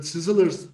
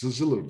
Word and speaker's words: Szilard: I could never pronounce this name properly. I guess it's Sizzler or something in Hungarian.